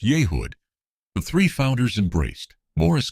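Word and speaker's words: Yehud: About 33 minutes after launch in mission control and Yehood pronounced Yehood, the three founders embraced.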